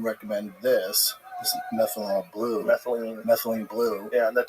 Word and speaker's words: methylene: upon uh was it methanol blue? Yeah. Do you take methanol blue? Yeah. Is that legit? I keep seeing stuff. That's not how you say it. What is the actual methane? Methylene. Methylene. Methylene.